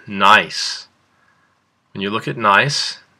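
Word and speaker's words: gneiss: looking at is called nice when you look at nice is there a silent letter that's right the g is silent so when we're looking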